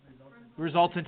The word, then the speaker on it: resultant: It starts with an R. Rhymes with exultant. Resultant vector.